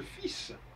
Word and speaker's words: fils: D'ailleurs on dit le fils. Alors le fils, on ne prononce pas le L dans fils, alors qu'on l'écrit. Il y a aussi des subtilités comme ça.